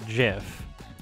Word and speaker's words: GIF: oh yes glyph yes the creator of the gif pronounces it jif but i think he